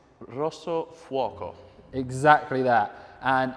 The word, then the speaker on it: Rosso Fuoco: Alex, as you are our in-house Italian language specialist, Would you like to confirm the pronunciation of what makes this different? It's Rosso Fuoco.